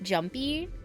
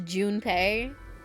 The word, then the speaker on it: Junpei: Like, I mean, the way she says it probably is more correct than, like, Jumpy. Because it's Junpei. It's like, you know. But I just, you know, it's spelt Jumpy, so I'm gonna say it Jumpy.